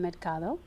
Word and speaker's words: Mercado: Or they can get it on my website, which is Maria del Carmen Mercado. Say it slow and again. I love how she says it. I know. She says it like Spanish. Yes, Maria del Carmen Del Carmen.